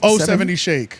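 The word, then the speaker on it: 070 Shake: I feel free yeah zero seven zero Shake I think that's what her name is but yeah she oh oh seven oh seventy Shake oh 76 that's how you say it yeah I've recently gotten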